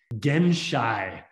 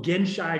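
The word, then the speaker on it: genshai: words which is called gen shy and gen chai it's spelled g-e-n-s-h-a-i and a mutual friend of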